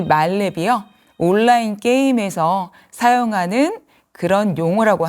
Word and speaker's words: 만렙: 사실은 이건 발음도 좀 만렙이라고 표현해야 되는지 말렙이라고 해야 되는지 아마 좀 혼동이 되실 거예요. 뭐 온라인도 온라인 온라인 이렇게 발음하듯이요. 사실이 말렙이요.